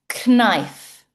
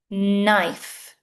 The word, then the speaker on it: knife: salmon salmon When we begin a word with KN in English, the K is silent. This is not knife. It's knife. knife know new knock All